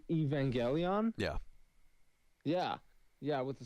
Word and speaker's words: Evangelion: talking about sitting there watching how do you pronounce that show? I believe it's an anime, no? It's Evangelion.